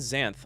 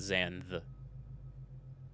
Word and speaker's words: Xanthe: pronounced darth then again my friend xanthe also spells it with an e at the end and it's totally xanth and not zan and to make matters